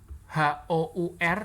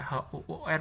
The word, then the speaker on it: hour: Terus contoh lainnya misalnya HOUR dan OUR. Ya, HOUR itu ini bacanya hour, ya, hour.